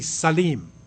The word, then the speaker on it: Salim: You would say slim in English, but it's really Salim.